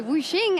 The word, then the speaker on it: Wuxx: I'm joined here by Wuxx, as I was advised by Wenson is the correct pronunciation, for the 80 carry for RNG after